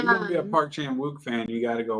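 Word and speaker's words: Park Chan-wook: Park Chan Wuk.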